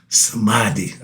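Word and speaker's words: samadhi: This is old samadei. I remember that's like that word samadei. All right. It's spelled s a m a d h i.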